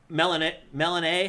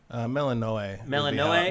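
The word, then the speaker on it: Melinoë: Also, Melanae, how do you say it? Melanae? Melanoe would be how I'd read that, especially with the umlaut over the E.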